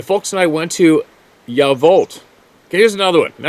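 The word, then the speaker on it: Yacolt: My folks and I went to Yavolt. Okay, here's another one. Now I'm going to sound like that crotchety old guy. It's spelled Y-A-C-O-L-T, but it's pronounced Yavolt.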